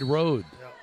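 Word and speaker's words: Rode: Parker Van Meter back to Parker left side road. I was informed that I had been mispronouncing that. It's R O D E. It's road.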